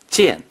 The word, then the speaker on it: 件: 剑 is the fourth tone.